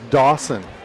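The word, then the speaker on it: Daucyn: Wesley's first name is Dawson, but it is spelled very uniquely.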